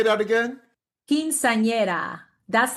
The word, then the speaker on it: Quinceañera: Quinceañera. That's like the fifth quinceañera. Quinceañera.